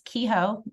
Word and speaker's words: Kehoe: my name is my last name is kho people usually don't know how to pronounce that but that's how you say my last name um and I'm at